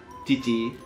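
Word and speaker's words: 父: Cara bacanya chichi.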